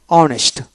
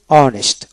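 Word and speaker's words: honest: honour তারপর ও ইউ আর আওয়ার আওয়ার এ উচ্চারণ হবে না তারপরে অনেস্ট ও এনইস অনেস্ট অনেস্ট এ উচ্চারণ হবে না তারপর অনারেবল অনব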